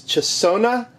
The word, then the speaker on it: Chesona: from i'm going to try to say this chasona i don't know c-h-e-s-o-n-a you can pronounce it better more power to you so